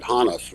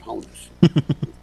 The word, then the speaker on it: Honus: kind of amateur League that's how I learned to pronounce it hanas rather than Honus so he had been